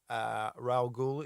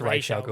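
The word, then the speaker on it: Ra's al Ghul: And then also when Ra'al Ghul in the first Batman.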